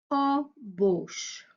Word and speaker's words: embauche: supplémentaires emboucher quelqu'un donc je répète pour la prononciation une ébauche et une embauche autre confusion entre des mots portant pourtant pas